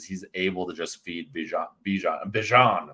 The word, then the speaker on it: Bijan: I think Ritter has been playing safe games because he's able to just feed Bijan. That's how you say it with the accent, I believe.